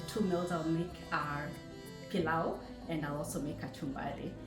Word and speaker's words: pilau: So Eva, I know you mentioned we're going to make, I can't pronounce the name. Please, can you help me out? Yeah, pilau.